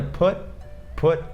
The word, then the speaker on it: put: o tia, então é put. E segundo, porque muita gente acha que todos os sons do U em inglês tem som de então fala put, ou então put, só que não, aqui é put.